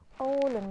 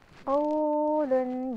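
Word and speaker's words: قَوْل: Contohnya adalah qaulun. Jadi kalau misalkan kita membaca santai aja, lunak dan lembut bacanya. Contohnya qaulun. Jadi kalau dipaksakan bunyinya kayak gini, qaulun. Jadi harus kalau huruf lin itu dibacanya dengan lunak, tanpa paksaan dan juga lembut ya.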